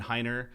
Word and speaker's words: Heiner: super appreciate being here my name is Heiner you know I say a lot you know if you go to my LinkedIn or my Twitter it says pronounced like the religion spelled like an IKEA coffee table I say it all